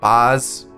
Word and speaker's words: Baz: comment all right so someone told me it was pronounced like oz in the wizard of oz so it would